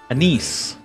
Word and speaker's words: Annis: __ ] are they how do you pronounce that a niece they just said it that's how you pronounce it alchemist had a practice